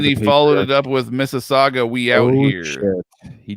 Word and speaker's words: Mississauga: I am part and of then he followed it up with Mississauga, we out here.